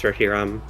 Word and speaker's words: Reshiram: It is Reshiram officially, but it doesn't matter. It's okay. I get it. It makes sense for it to not be pronounced the same as Zekrom, but I don't know.